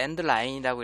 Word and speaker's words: endl: 컴파일러별로 지원하는 자료형의 크기를 체크해보고 싶으면 이제 이런 것들 써준 다음에 자, 여기 endl이라고 있는데 endline이라고 읽고요.